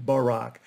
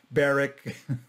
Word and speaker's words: Barack: still unusual rather than barack i was so tired of people botching my name calling me barrick all kinds baruch all kinds of things i actually